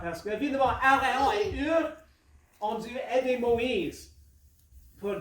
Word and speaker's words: Hur: Et Aaron et Hur, je crois que c'est la bonne prononciation en français, Hur, est-ce que ça se dit bien, Hur, viennent, si on